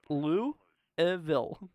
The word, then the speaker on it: Louisville: elville Louisville okay yeah so Lou evil Louisville that's how you say it let's see here a